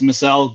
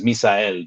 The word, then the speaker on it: Misael: So in English, it's Misael. You had it right. I mean, you did it pretty dang spot on. It is in Spanish it's Misael, but I've stopped attempting to correct people on that one, so it just we're flowing with what you said.